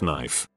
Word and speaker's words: knife: letters in a word for example salmon is pronounced saman salmon salmon etc not Salman knife is not K H knife it's just knife same thing with knee subtle Wednesday nor cor